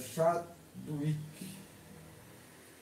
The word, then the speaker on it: Chadwick: Se escreve Chadwick em português, a pronúncia Chadwick, James Chadwick.